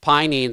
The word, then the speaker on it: pinene: is the same as the the it's called pinene right did i say it right and that's also in rosemary it is pinene they're they're it depends on what type of